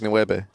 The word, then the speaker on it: nueve: But they do pronounce it a bit more like a B, almost like nueve.